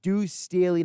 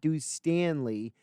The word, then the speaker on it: Duce Staley: deuce staley's name yes it's deuce staley not deuce stanley uh text chime good